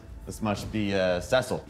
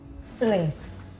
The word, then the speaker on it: Célice: Cela doit être "seh-sill". - Célice.